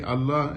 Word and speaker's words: Allah: He said that we say Allah, we say God, and Muslims, they call Allah.